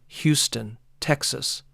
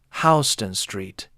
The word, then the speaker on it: Houston Street: Houston Street, by the way, is not pronounced the way you think. It is not like Houston, Texas. In New York, it is pronounced Hen Street.